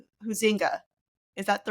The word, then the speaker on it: Huizenga: Huinga. Is that the correct pronunciation, Jason? Yes. Hazinga. Hazinga. It rhymes with buzzinga.